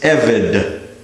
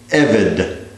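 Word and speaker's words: עֶבֶד: Number 54, another segulate noun called such because one of its first two vowels is a segol, which means we accent the first syllable. This is eved, eved.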